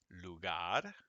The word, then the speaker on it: lugar: like but it's just otherwise one r just makes a little d it's almost like a d okay so see if you can say like i do lugar here's a this one